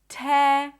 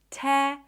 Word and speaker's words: terror: The next word is terror. Ter. Terror. Terror. Same thing. It's not ter. It's not terror. It's just terror.